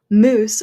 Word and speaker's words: moose: So you would say moose for mouse, which is funny because that sounds like a different animal.